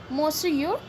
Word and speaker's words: Monsieur: The correct pronunciation of the word Monsieur. So Monsieur has been the word that has been said here to in this to greet the famous painter.